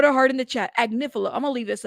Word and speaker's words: Agnifilo: It's pronounced Agnifilo. Yes. Did I get it? Lovely. Lovely lady, please put a heart in the chat. Agnifilo.